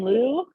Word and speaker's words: Lugh: i prefer the pronunciation lou and that is what people in ireland today pronounce it um i've also heard